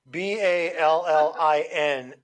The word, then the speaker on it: ballin: B A L L I N with an emphasis on the N.